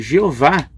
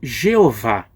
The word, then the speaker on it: Jeová: Agora, que dizer da pronúncia do nome Jeová? Será que ela está muito errada ou se aproxima da pronúncia original? Bom, muitos eruditos reconhecem que o termo Yahvé é um termo mais correto do que Jeová.